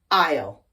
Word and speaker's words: isle: A-I-S-L-E, aisle, a passage between rows, seats, shelves, or structures. I-S-L-E, also pronounced aisle, another word for island, typically a smaller one.